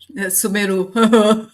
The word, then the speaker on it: Sumeru: Sumeru.